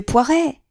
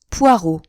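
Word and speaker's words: Poirot: oh vous devez être monsieur Poiret poireau rectifia-t-il en accentuant sur la dernière syllabe Hercule poireau pour vous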